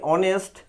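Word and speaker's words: honest: আর এই দুটি শব্দের লক্ষ্য করছি, অনেস্ট, আওয়ার, আওয়ার অর্থ ঘন্টা, অনেস্ট অর্থ সৎ, এই শব্দে এইচ এর উচ্চারণ প্রয়োজন হচ্ছে না, যার কারণে আমাকে এখানে অ্যান লিখতে হচ্ছে।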